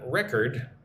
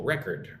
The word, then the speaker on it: record: Record. When it's an adjective, um, the emphasis goes on the first syllable, record, right? When it's a verb, it's record, right? It's different.